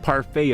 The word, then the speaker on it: parfait: why why why why why is it pronounced parfait if there's a t at the end English language it's a